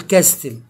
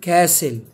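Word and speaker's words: castle: هنا في الكلمه دي لو واحد مش عارف القاعده هيقول ايه ها هيقول كاستل تمام طب اللي فاهم بقى وعارف ان في قاعده بتقولون ان الاس لو جه وراه حرف التي يبقى التي مش هينطق هيبقى سايلنت ليتر زي كلمه كاسل تمام معناها قلعه يسمع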